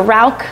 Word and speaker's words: Rauch: Neo Rausch, or Rauch, if I'm saying it correctly, was a German artist born in 1960.